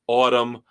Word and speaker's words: Atum: Billy Corgan swears it's pronounced Autumn.